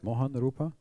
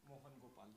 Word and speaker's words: Mohan Gopal: Do I say it right? Mohan Rupa? Mohan Gopal. Gopal. Oh, it's much better.